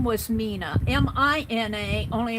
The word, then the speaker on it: Mina: Mina if you're listening her name was Mina m i n a only it's pronounced Mina it's they they put in parentheses